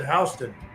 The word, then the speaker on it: Houston: Yeah, it went There's a Houston and Georgia, but they pronounce it Hston.